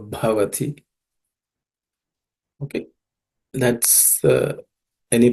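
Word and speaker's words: भवति: The bha is a aspirated consonant, so bhavati.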